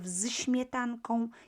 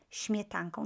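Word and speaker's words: śmietanką: it's easier to pronounce instead of shmeetan kong you would say smetangkong just simply easier because i'm using this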